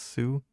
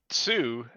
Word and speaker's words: Tsu: That's TSU. I guess that's pronounced Sue.